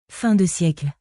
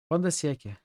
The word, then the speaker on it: fin de siècle: Finally is not pronounced. Fin de siècle. Fin de siècle. Okay. So Al is not pronounced? I don't know. Google Translate doesn't really pronounce Al. Exotic perfumes hover in intensely localized clouds that you can almost see. Every moment stirs your currents. We read this before. You say Al, but not very loudly.